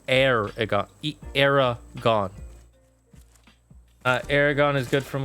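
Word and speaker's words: Eragon: Aragon is spelled E-R-A-G-O-N, by the way. It's Aragon.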